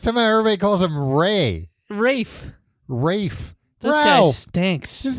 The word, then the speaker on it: Ralph: movies of they wait his first name is pronounced Rafe. I think so. I've always just assumed it's Ray Fines. I thought it was not Raph Rafe Fines. Oh, maybe it's Ray.